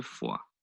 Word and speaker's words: Foix: Now that's a nice example actually of silent letters at the ends of words, which is the S and the X in this example.